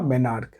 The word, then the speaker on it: menarche: यहाँ पे इसका स्पेलिंग होगा MENARCHE, और इसका उच्चारण क्या हुआ, मेनार्क।